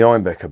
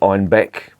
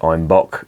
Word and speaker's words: Einbeck: Einbeck, in the Bavarian dialect, they pronounced it Einbock, and Einbock means billy